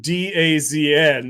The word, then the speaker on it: DAZN: spelling or whatever, but there's nothing in DAZN that would suggest to anyone that should be pronounced DAZN.